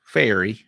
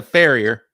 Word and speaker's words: farrier: You've been a horseshoe fairy. Am I saying that right? You're close enough. We'll call it good. I know I'm saying it wrong. I know you are. It's a farrier. Farrier.